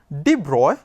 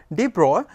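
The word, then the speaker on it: de Broglie: we know what is known as debroise hypothesis deep roy it is written as broglie he is a french scientist whose name is pronounced as bro de bruy and this d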